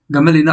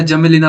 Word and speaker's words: Gmelina: Sissu, एम्बेलिका officinalis और गमेलिना अर्बोरिया या जमेलिना अर्बोरिया। आपको जो भी प्रोनाउंसिएशन अच्छा लगे आप वो यूज कर सकते हैं।